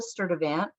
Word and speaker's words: Sturtevant: Sturtevant guiding us through this morning. And I hope, that I just pronounced your last name right.